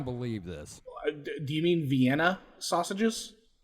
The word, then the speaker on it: Vienna: this do you mean Vienna sausages I am from the south sir and down here it is pronounced venas I can attest that